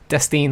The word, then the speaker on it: Dustine: It's spelled like Dustin, but it has an E at the end of it. So Dustine, like Justine, but Dustine.